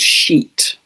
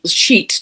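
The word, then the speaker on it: Sheat: It is also conjunct, when it moves back to 29 degrees of Pisces, a fixed star called Sheet. I don't think I've mentioned before. This is spelt S-H-E-A-T at 29 degrees of Pisces.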